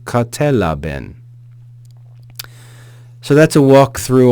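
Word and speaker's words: κατέλαβεν: Katelaben, katelaben. So verse 5 reads, kai tophos en te skotia phaine, kai he skotia auto u katelaben.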